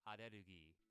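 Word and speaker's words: アレルギー: It sounds dumb, but allergy in Japanese is pronounced arerugi. Arugi.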